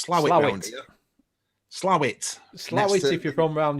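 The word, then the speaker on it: Slaithwaite: new shop done it it's slave weights are pronounced slower points slam it slightly if you're from around yorkshire slave way if you're not yeah yeah yeah yeah not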